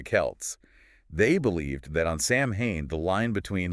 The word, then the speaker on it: Samhain: That's got to be pronounced like some mystical chant or something. How do you really say it? It's Samhain. Samhain.